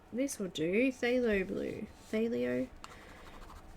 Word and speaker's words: phthalo: Phthalo. It's spelled P-H-T-H. Phthalo.